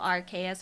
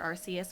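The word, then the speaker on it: Arceus: It's a very similar to that and also Archus or Arcus, whichever way you pronounce it. Uh, I'm going to pronounce Arus.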